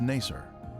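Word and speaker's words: Nasar: in the 19th century was Nasser this pronunciation is similar to nicer a village that the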